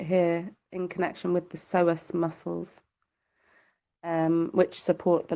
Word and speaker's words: psoas: The kidneys are often the culprit here in connection with the psoas muscles.